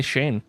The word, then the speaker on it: Shane: good yes I do how do you say Shane's name I say everyone says it differently so I'm so confused about what is the right way um I say Shane like s-h-a-n-e in case you're wondering